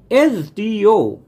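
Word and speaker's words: SDO: তাহলে মহাসাগরের নাম যেহেতু এর আগে বসবে দা এস ডি ও এস ডি ও এস ডি শুরু হচ্ছে কনসোনেন্ট লেটার কিন্তু উচ্চারণ করার সময় আমি কি প্রথমে উচ্চারণ করছি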